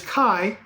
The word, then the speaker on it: Kai: character he plays is Kai that's his name not hi it wasn't mispronounce way his name is Kai and he comes off